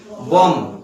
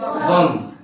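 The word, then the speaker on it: bomb: Pronunciation जब इसका उच्चारण हम करेंगे तो उच्चारण में हम इस बी का प्रयोग नहीं करते हैं।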